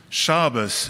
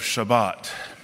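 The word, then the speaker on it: שבת: i think about it my mother who grew up in baltimore still spoke hebrew with the older pronunciation think of any of your relatives from brooklyn otanoi instead of adonai shabas instead of shabbat mother and dad would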